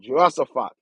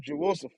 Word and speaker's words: Jehoshaphat: That's how I pronounce it, Jehoshaphat.